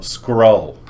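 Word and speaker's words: Skrull: They they battle I was thinking like a scroll like No, scroll. Or s k r u l l. Yes. Like skull with an r.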